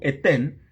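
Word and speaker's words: אתן: Y esa palabra, que también viene del verbo natán, pero se dice en futuro etén, se escribe con la letra Aleph, la letra Tav y la letra Nun al principio, etén.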